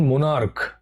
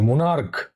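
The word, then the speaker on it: monarch: যেমন মোনার্ক। দেখো লাস্টে কয়ের মতো সাউন্ড করছে, মোনার্ক।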